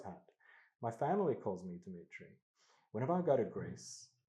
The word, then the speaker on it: Dimitri: My name is Ditri. And if people can't handle that, pronounce that, that's their problem, not mine.